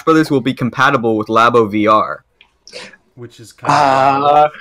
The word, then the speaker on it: Labo: It's pronounced Labo, you hack.